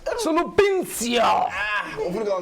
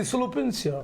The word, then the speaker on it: Sulupincio: But it's easy, Sulupincio. Sulupincio. Pronounced with a sex, a romantic tone.